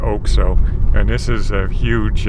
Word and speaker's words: OXXO: oak so oxxo but they pronounce it like oak so and this is a